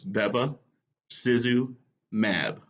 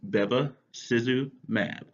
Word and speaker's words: bevacizumab: these are funny words make sure we can pronounce them it's babba Suzu mab one more time that's debe Suzu mad yeah say with me Bevis is mad we